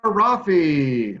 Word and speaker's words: Rafi: Rafi rhymes with Taffy.